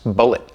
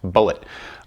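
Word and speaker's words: Bulleit: pronouncing his name wrong which would come as a shock to mr. bullet because it's pronounced bullet kind of go for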